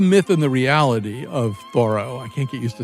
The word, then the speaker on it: Thoreau: New York Times, that we've been saying the name wrong all these years. He was known as Thoreau.